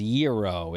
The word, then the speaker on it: gyro: So, g y o is yuro in Greek.